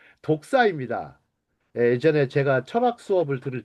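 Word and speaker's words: δόξα: 독사입니다. 발음이 뭐 여러분 뱀 독사를 생각하실 것 같은데 독사입니다.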